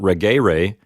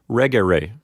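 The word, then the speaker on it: regere: rig a ray but since the e here is short according to the rules of Latin accent that's going to move the accent one syllable back so in the word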